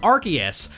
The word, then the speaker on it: Arceus: The most common English pronunciation is Arceus, because according to the anime dub's voice director Tom Wayland, they wanted to avoid the start of its name sounding like a foul word in British English.